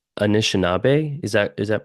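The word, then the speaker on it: Anishinaabe: Um and so it's anishab. Is that is that pronounced correct Lee? Yeah, Anishnab is my people.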